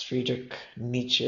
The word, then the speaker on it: Friedrich Nietzsche: Look, it's Friedrich Nietzsche is how you pronounce it, but that's also something that's a tongue twister.